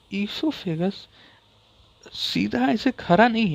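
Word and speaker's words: oesophagus: And start में ओ आता है लेकिन ओ साइलेंट है। ये ऐसे आप पढ़िएगा तो इससोफेगस ऐसे पढ़िएगा तो इससोफेगस लेकिन पढ़ा ये इससोफेगस चीज आता है।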